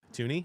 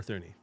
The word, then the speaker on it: Thuney: They a got guard, Jonah Jackson, and they got Thuney. And yeah, Thuney or Thuney? Thuney. Okay, whatever, Thuney. And they got The H is silent.